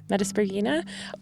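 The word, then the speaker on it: Metaspriggina: Metasprogina.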